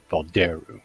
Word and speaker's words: Volderu: Yeah, Volderu. Well, it depends on where you're from, maybe, Yeah, exactly. In the southern parts of the land, they pronounce it Valderu.